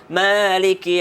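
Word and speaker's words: مالك: Alhamdulillahirabbil alamin, arrahmanir rahim, maliki yaumiddin. Ma-nya panjang ya.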